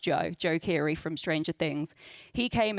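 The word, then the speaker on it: Joe Keery: one a couple of weeks ago with Joe de Joe I was call him dejo but he's it's pronounced Joe Joe Kiri from stranger things he came in um and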